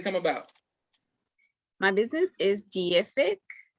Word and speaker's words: Deific: My business is Deific, Deific. A lot of people see it and they pronounce it wrong. It is Deific.